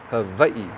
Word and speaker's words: Hawaii: is in hawaii now notice the w i pronounce with a v hawaii that's how you're supposed to say it guys see i'm not